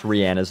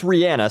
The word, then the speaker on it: Rihanna: cake before we start I've been criticized in the past for how I pronounce Rihanna's name have a listen to this hi this is Rihanna that's Ranna saying her own name so to everyone that says Rihanna I'm right you're wrong you know what else